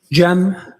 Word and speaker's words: Cem: Jeem.